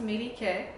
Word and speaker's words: Melike: In fact, if I put an accent over here, you recognize that the accent is on the third syllable, Melike.